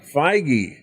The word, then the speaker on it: Feige: determined and that's a kevin how do you pronounce his name i was looking up jd dillard uh kevin feige feige okay so kevin feige is also getting his